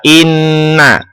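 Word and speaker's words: إنّ: 72 yang pertama adalah inna. Terdapat lafadz inna atau kata inna itu memiliki hukum bacaan atau tajwidnya adalah gunnah musyaddadah. Cara membacanya adalah berdengung yang lama. Inna.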